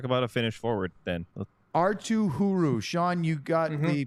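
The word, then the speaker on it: Arttu Hyry: Artuu Hyry. Sean, you got the pronunciation confirmed from the player himself.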